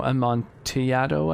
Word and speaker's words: Amontillado: the cask of amontillado so it's uh it's spelt iman amman montilado with a double l but i believe because it's spanish that it's like you know a montyado i guess i don't know fantastic